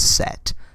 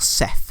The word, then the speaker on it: Set: He's also spelt Seth as well. Like in any sort of like mythology, he's spelt Seth. I think it's pronounced Set still though.